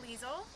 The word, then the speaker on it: Liesel: Hi, I'm Liesel. I am a PDS intern hoping to become a teacher. My name is actually very German, so you pronounce it like Diesel, but starting with an L.